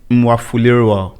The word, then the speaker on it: Mwafulirwa: So your surname, Mwafulirwa. Yeah. Is that the right way even to pronounce it?